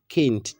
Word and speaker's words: Kind: a child is aba kint child is kint kint kint like the spelling for kind now it pronounces kint in in German.